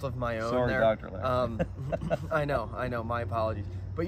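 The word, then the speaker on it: Loehr: James Lohr. I think it's actually Lehr, which is the correct pronunciation, but it's L-O-E-H-R. So I've been saying Lohr. It's Lehr.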